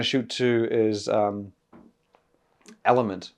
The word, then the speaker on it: LMNT: shoot to is um element now I don't know if that's pronounced incorrectly or whatever it's spell l m n t you could say lament I'm saying element cuz I think kind of sounds what it's meant to sound like um it's a hydration